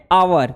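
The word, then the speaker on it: hour: जैसे एंड ऑल, and aeroplane, and आवर, देखो यहां एच से शुरू है, एच से शुरू है, लेकिन इसको प्रोनाउंसिएट कैसे कर, आवर, एन आवर, आवर जैसे ओ से शुरू हो रहा है, तो यहां आप एन का यूज किए।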